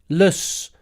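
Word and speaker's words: -less: And in English, we've got lus. Pronunciation, lus, lus, lus, lus. Friendless, penniless. Helpless.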